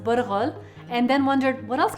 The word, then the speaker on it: bulgur: If you've ever made tabbouleh and bought bulgur, pronounced burghul, and then wondered, what else can I do with this?